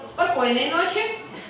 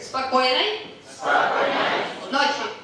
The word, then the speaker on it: спокойной ночи: Спокойной ночи. Okay, once again. Спокойной. Yeah, you just look here. Спокойной. Ночи.